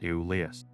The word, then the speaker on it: Ivlivs: That first V is a U, and the name is pronounced Eulius.